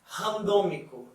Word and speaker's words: randômico: So we pronounce, for example, rato. Rato. It means mouse. And we have randômico.